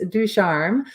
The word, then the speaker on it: Ducharme: you were close it's ducharme so um but i know that's always how to pronounce so i tell anyone just stay with a french accent and you'll be good it sounds good anyway